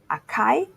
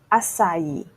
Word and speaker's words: açaí: This word is often mispronounced as acai or açaí. It's actually açaí.